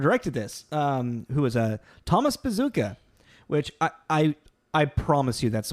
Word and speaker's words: Bezucha: Who was Thomas Bazooka, which I promise you that's what I looked up and that's what his name is pronounced. It's spelled Bezucha, but very much yes, Thomas Bazooka.